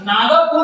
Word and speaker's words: नागपुर: उसी तरह नागपुर न कह करके हम नागपुर कहते हैं, क्योंकि ग के साथ वाले अ का उच्चारण नहीं होता, इसलिए हम इसकी अंग्रेजी देते हैं एन ए जी पी यू आर।